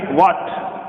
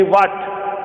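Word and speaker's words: what: लिखा हुआ है अपना, ये जो H है ये H सब में साइलेंट रहता है। क्या रहता है? साइलेंट। यानी हमने बोला कि भाई वाट, तो वाहट नहीं है, क्या है ये? वाट है, यानी वाट मीन्स क्या। तो इसमें H है वो साइलेंट है।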